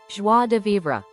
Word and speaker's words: joie de vivre: Joie de vivre. Pronounced something like joie de vivre. ZH is identical in sound to the S of pleasure.